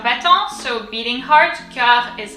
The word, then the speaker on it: battant: And then battant is easier. B-A, bat, double T, bat. En in French, A-N is en, battant, and then the last T is silent.